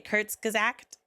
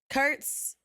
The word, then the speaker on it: Kurzgesagt: Okay, Kurzgesagt. Kurzgesagt.